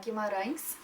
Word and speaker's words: Guimaraes: Guimaraes. Okay. Guimaraes.